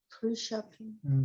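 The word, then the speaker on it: tertiaphim: 그리고 자기 스태프는 아직 생기지 않았고 아직 낳지 않았기 때문에 털시아핌 털샤핑. 산품 천사가 일종의 만능 뭐 하라 그러면 다 해치워서. 다 해치우는 그런 천사 스펠링이 계거든요.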